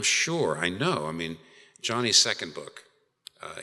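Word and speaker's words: Joni: I know I mean Johnny's second book uh it's by the way spelled j n i I know it's sounds like I'm saying it's not Joanie it's Johnny it's how it's pronounced it's Johnny Ericson Johnny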